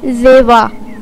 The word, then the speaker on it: Zyva: नाम है ज़ेवा। ज़ेवा नाम के इंग्लिश में स्पेलिंग है ZYVA और इसके मायने हैं निखरी, उजली और चमकती हुई।